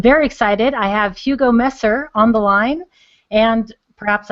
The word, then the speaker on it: Messer: I have Hugo Messer on the line, and perhaps I mispronounced your name.